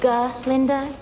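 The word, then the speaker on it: Galinda: Actually, it's G. Linda. Okay. Well, I guess that answers my earlier question. Maybe the pronuncification of your precious name not the sole focus of Dr.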